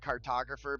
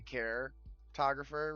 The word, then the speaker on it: Caretographer: It's kind of like my name, where it's like cartographer, but you have to say caretographer, right?